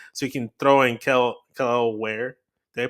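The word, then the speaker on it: Kel'el Ware: They want a younger guy, so you can throw in Kel Ware. Did I pronounce that right? Kel Ware.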